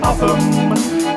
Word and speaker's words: Oldham: For in Oldham the locals say Uffam, to the natives of Blidworth it's Blid.